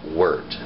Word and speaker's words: wort: hops to create what's called a word or wort its perch spelled wor wor T if you see written in a book but it is pronounced word wer T now that word doesn't become beer